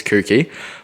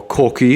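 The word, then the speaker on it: Kouki: He gave me his spare guard for free off his kooky, or corky if you want to say it correctly.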